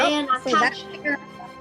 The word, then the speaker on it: Manakacha: Well, you guys pronounce it. Mana. Oh, the Anakacha Mana. formation. Manakacha. Yeah. Oh, Manakacha. Oh, Yep. Manakacha.